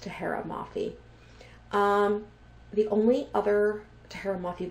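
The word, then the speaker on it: Tahereh Mafi: Less excited for this Woven Kingdom by, I think it's pronounced Tahara Mafi.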